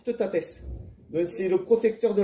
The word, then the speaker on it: Teutates: Et Toutatis, en fait, c'est pas prononcé correctement. Normalement, c'est Teutates.